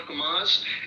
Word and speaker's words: Hamas: Hamas. It's Hamas. So Yeah, it's pronounced you know, and this is the rhetoric.